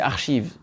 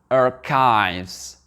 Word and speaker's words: archives: Je vous écoute, en français, c'est archive. Mais en anglais, c'est la même signification, ça va être archives. Archives. J'ai vraiment eu du mal à m'habituer à ce mot-là, parce que tellement on l'a prononcé en langue française, archive. Et quand on veut le prononcer en langue anglaise, c'est pas évident, c'est archives.